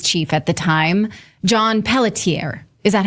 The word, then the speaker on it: Pelletier: the Maui police chief at the time, John Pelletier.